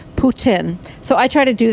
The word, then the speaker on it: Putin: Jasmine Z is that people who seem to know what they're talking about or be familiar with Russian pronounce the president of Russia's name Putin and really pronounce the T Putin.